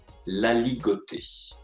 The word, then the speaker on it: aligoté: Alors, regardons ensemble pour avoir la bonne prononciation. On commence de manière alphabétique avec l'aligoté.